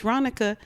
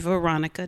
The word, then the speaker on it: Ronica: Ask me how to pronounce it, and if I tell you it's Ronica, don't say, oh, nice to meet you, Veronica.